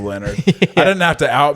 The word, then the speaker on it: Leonhard: And his name's Leonard, but I was looking up if it's pronounced Leonhard or something like that, but it wasn't. It was just Leonard.